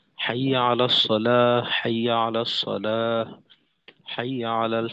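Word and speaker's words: حي على الصلاة: এই দুইটার ক্ষেত্রে দেখা যায় যে অনেকে অক না করে হরকত দিয়ে বলে। যেমন হাই আলা সালাত হাই আলা সলা হাই আলাল ফালা হাই আলাল ফালাহ এটা হরকত দিয়ে উচ্চারণ করে। তো এখানে হরকত না দিয়ে অর্থাৎ আজানে যেভাবে বলতাম ওইভাবেই শুধুমাত্র পার্থক্য হলো যে একশে বলা যেমন হাইয়া আলাস সালা হাইয়া আলাস সালা হাইয়া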